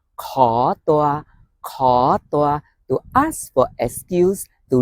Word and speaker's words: ขอ: In Thai, ขอ rising tone.